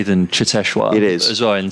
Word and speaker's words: Cheteshwar: You pronounce Cheteshwar's name far better than I do. Cheteshwar.